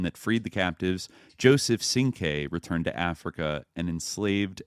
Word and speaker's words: Cinque: the name Sing-Q, but it was mispronounced as Sing-Q, where it should be, Sing-K.